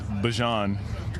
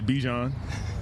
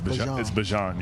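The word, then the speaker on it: Bijan: How you pronounce my name is Bjon for everybody that's that's out there. Um, I know a lot of people say Bjon, but it's Bjon.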